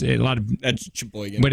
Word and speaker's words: Sheboygan: How do you say it? Sheboygan. I say it Gin. Sheboygan. Yeah. Gin. Sheboygan.